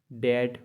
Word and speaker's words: debt: DEBT डैट मतलब रन। एम के बाद अगर बी आए तो भी हम लोग बी को साइलेंट पढ़ते हैं।